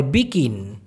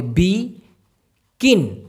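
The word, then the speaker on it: bikin: করাটাকে বলা যেতে পারে বিকিন বি আই কে আই তারপরে হচ্ছে এন উচ্চারণটা হবে বি কিন বিকিন ব্যাপারটা ক্লিয়ার আর সৃষ্টি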